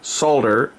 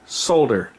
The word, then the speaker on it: solder: exactly how I said solder I don't speak it like an American I speak it with the L pronounced which is the correct way if you look it